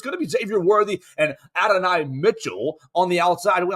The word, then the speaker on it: Adonai: to Xavier worthy and it's not ad Mitchell anymore it's ad Adonis Mitchell right is that how they want to say his name now uh Adonai excuse me Adonai Mitchell he doesn't want to be called ad Mitchell they made that point